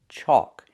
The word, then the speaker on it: chalk: It has the AL, where the L is silent. Chalk. It makes the aw sound like walk and talk.